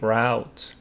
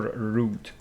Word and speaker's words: route: effect of Andy's escape route, or route. Two pronunciations, a route or route, means way.